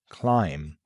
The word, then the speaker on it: climb: Now, for one of the most puzzling silent letters, the B at the end of words like climb, thumb, lamb, numbum, bomb. The rule here, when a word ends with MB, the B is usually silent.